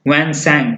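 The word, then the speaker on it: Hiuen Tsang: विक्रमादित्य के समय वैन सैंग, T silent है, और टी सिंह में आई साइलेंट है।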